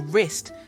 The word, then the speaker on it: wrist: Or wrist, the W just vanishes.